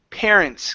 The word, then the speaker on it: parents: And our last one here is the word parents. Give me a good R here instead of pair. Parents.